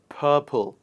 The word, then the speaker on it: purple: red purple orange the the color purple r has p sound following uh follow the following itself and so we do not pronounce our purple not purple it is purple and the last list